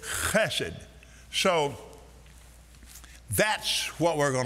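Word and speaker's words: חֶסֶד: Now, if you see it written, you can just pronounce it H-E-S-E-D, but if you see it written, it has a C in front of it, and it's hesed. Am I right, Professor? It's chesed.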